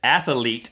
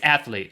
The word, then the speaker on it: athlete: Yeah, you said athlete. 3 syllables. And you said it a couple of times, and it was pointed out by the mythical beast who watch and comment. It's athlete.